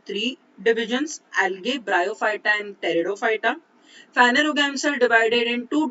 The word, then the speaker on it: Pteridophyta: Second is division Bryophyta, and third is division Pteridophyta. P is silent here. So cryptogams are divided into three divisions: algae, Bryophyta and Pteridophyta.